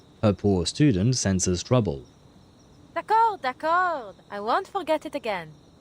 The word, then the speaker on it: d'accord: I mean, I can very clearly hear that she's saying d'accord. But d'accord is written D''A''C''O''R''D, so there is a D at the end. The problem is that second D is silent, and yet I feel